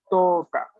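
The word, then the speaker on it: 十日: No la vamos a tener que pronunciar, de lo contrario no estamos haciendo la buena pronunciación del nombre. Yu. Y en calendario es Toka.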